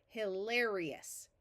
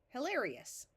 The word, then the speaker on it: hilarious: start with by changing this vowel to short hilarious hilarious here we want to divide after the prefix